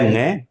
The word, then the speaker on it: ङ: ङ कहा जाएगा, वह ङ यह है। तो ध्यान रखें, ये नासिक की ध्वनि है और इसका उच्चारण ड नहीं है बल्कि लगभग ऐसा उच्चारण है इसका, ङ।